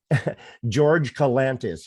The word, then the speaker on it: George Kalantzis: George Kalantzis.